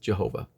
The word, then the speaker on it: Jehovah: And most scholars today believe it is pronounced as Yahweh. There are some that would say the older would go with Jehovah.